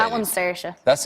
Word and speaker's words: Saoirse: Tell me how I'm supposed to say that one's Saoirse. That's Saoirse. Does anyone know how to pronounce that in the audience?